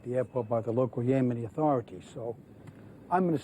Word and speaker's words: Yemeni: cooperation i'm to expect it's yemeni not yemeni can you say that yemeni i think the people here might appreciate it if you could pronounce the name of their country properly pardon me i'm sorry